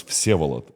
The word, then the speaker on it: Vsevolod: it's like, I mean, if you'll try to pronounce it like in Russian, it's Vsevolod, but it's like obviously you can do that. So they were trying like Vsevolod.